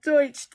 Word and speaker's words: Deutsche: I can't remember how to say the name douche dulch Deutsch thank you French my French kiss in the way Deutsche thank you thank you my relationship with Deutsche